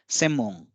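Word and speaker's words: 専門: है कि जापानी में सेनमोन किसे कहते हैं। सेनमोन, इसका उच्चारण जो है वो जब वाक्य में इसका प्रयोग होता है तो उसका उच्चारण होता है सेमोंग।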